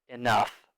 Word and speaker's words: enough: note for pronunciation um think of this like an F sound enough enough okay so let's do